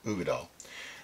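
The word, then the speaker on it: Uigeadail: It's pronounced Ugadal.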